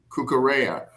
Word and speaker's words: Cucurella: Cucurella.